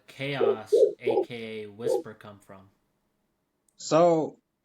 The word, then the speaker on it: KaOus: So I'm Chaos, but people also know me as Whisper.